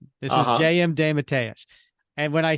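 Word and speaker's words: DeMatteis: and I'll tell you so that's how he pronounced his name when he was on the show this is JM D Matas and when I said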